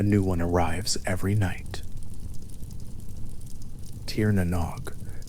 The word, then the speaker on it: Tír na nÓg: Tier Nog. Three syllables spoken slowly in the dark.